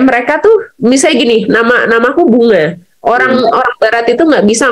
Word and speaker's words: Bunga: Mereka itu jadi baca NG itu Bunga, double G gitu. Tapi iya, jadi double G kan, kayak Tango gitu, Bunga gitu. Jadi bacanya lain.